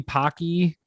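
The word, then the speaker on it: Paqui: partnering with 7-eleven and i think the brand is pronounced but it might be pocky it's p-a-q-u-i they did the one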